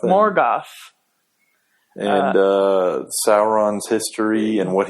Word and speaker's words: Morgoth: Like the ones we've watched about Tom Bombadil, about Morgoth is how you pronounce that? Yeah, Morgoth. Morgoth.